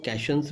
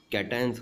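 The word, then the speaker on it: cations: देखिए बेटा ये स्पेलिंग देखने के बाद हम लोग इसको कैशंस भी बोल सकते हैं, लेकिन कैशंस नहीं बोलना है हम लोग को। इसका प्रोनाउंसिएशन कैटायंस होगा और इसका एनायंस होगा, ठीक है।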